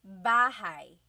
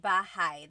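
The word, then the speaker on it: bahay: You might notice that the spelling is a y at the end. So it looks like bahi, but it's pronounced bahigh. That ay combination is bahigh.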